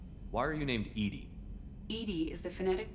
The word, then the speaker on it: EDI: is a jar why are you named Ed Ed is the phonetic pronunciation of EDI that is an acronym for